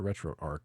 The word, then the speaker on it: RetroArch: right so we're gonna set retro Archer retro Arc because it's a r c h but I've heard people call it retroarc as well I don't know if there's ever been like uh Pro pronunciation yeah how do people there's no official pronunciations either either as equally valid internally we say Arch as March yeah I've heard retro Arc and I'm like once you add that H that's an arch to me but now let's see